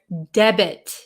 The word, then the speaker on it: debit: the t is silent in this word debit the t is pronounced okay oh hello from